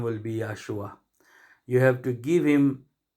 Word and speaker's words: Yeshua: That is why we have to be very careful and we have to be very serious to pronounce his name, because his name is Yeshua.